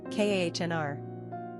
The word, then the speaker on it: Conor: Pronunciation, Kahnr.